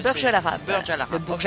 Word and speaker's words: Burj Al Arab: Al Nasser et après RP Burj, comment vous prononcez? Burj Al Arab.